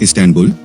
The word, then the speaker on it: Istanbul: dotted and dotless eye in English the stress is on the first or last syllable but in Turkish it is on the second syllable a person from the